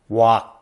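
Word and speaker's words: 鑊: English borrowed this word from Chinese guo, or more specifically, its Cantonese pronunciation, wok.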